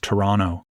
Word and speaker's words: Toronto: If you're going to live here, the first thing you got to do is lose that extra T at the end. It's just Toronto.